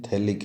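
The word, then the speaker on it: phthalic: जैसे इस कंपाउंड का नाम है बेंजीन 1,2 डाइकार्बोक्सिलिक एसिड, जिसको कॉमन सिस्टम में बोलते हैं थैलिक एसिड, जिसमें P और H साइलेंट हैं।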